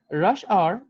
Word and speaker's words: hour: কয় sure we will rush hour is almost over এতিয়া এটো hour বুলি নকব আৰু hour বুলি নকব দেই r ঠিক আছে r এনে কব h নালাগে h টো সাইলেন্ট এটো মনে থাকিব h টো প্ৰনাউন্স কৰিব